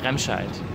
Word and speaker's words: Remscheid: Remscheid. Remscheid.